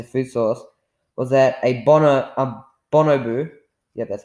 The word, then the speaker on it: bonobo: Some of the evidence he included in the argument for fruit being the denser food source was that a bonobo, that's how you pronounce it, it's a primate, and it has 99.4% of the same genetic material as we do.